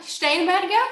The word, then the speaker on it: Steinberger: for having me um stain bger for anyone who cares it's a German oh is it stain I thought it Steinberger night whatever you say